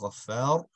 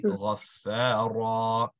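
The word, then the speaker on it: غفارا: So instead of Ghaffar, it'll be Ghaffara, right? You're turning into a stretch.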